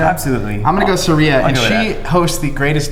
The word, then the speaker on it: Saria: how do you say I think it's like Saria like Maria Saria absolutely I'm going to go Seria and she hosts the